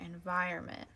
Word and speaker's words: environment: And I know that this doesn't really sound when you say environment, so it has kind of an O that sometimes we don't hear if we don't pronounce it.